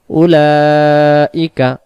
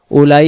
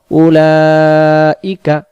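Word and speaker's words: أُولَٰئِكَ: তাহলে এই শব্দটা আমরা উ তাড়াতাড়ি লা চার আলিফ ই তাড়াতাড়ি কা হারকাত তাড়াতাড়ি তাহলে উচ্চারণটা বলি উলাইকা আবার উলাইকা সবাই সবাই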